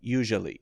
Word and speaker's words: usually: that's wrong okay so this one is pronounced like y-o-u the first part and then you can